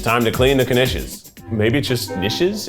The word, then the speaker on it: knish: time to clean the knishes maybe just dishes is sometimes the K is pronounced I feel like in